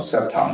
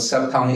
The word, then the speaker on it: Cepton: Consumer vehicles and actually I want to correct your pronunciation of septon C it's it's actually not Soo much of a correction just a uh explanation of what sep Tong is you know at